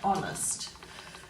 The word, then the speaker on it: honest: pals cards and Ireland we're also going through the silent h there's not a lot of words with the Sun and it German so we've got ghost hour and honest so let's have a